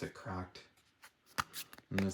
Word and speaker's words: CRKD: to spell that out say CKD but they pronounce it cracked and it says for upsi product visit crk